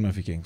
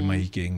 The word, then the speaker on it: Mahikeng: But it's just like it's different dialects which do actually even exist in Mafikeng. So it's like saying Fela or Hela. Okay. You could say Mahikeng, Mafikeng.